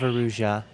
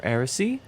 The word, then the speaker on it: Erusia: Princess, Kingdom of Erusia. Or Erisy? I am Princess Rosa, Erisy. Kingdom of Erusia. Erusia. Okay, I pronounced it correctly the first time on accident.